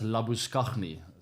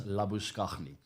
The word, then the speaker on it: Labuschagne: That's how you pronounce it, by the way. It's not Marnus Labuschagne. I know he likes to go by that name these days, but he'll never be Marnus Labuschagne in South Africa.